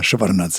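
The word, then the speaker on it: Chevardnadze: Chevarnad, exactement vous prononcez bien Chevarnad.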